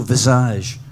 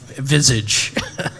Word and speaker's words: Visage: just realized I I I pronounced the band with the American pronunciation Visage by the way uh speaking